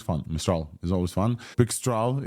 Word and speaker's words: Pixtral: Pixtral is, like the vendor said, is the right way to pronounce this.